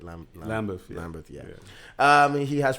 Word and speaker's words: Lambeth: He's a lecturer of film studies and media production at the Lambeth College, London, right? I pronounced that right. Lambeth, yeah.